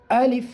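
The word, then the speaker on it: ألف: করতেই হবে তাহলে আলিফ আলিফটা শক্ত করে উচ্চারণ করতে হবে কি করে শক্ত আমরা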